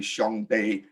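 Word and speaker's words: 上帝: Now, 上帝 pronounced in Hokkien would be 上帝.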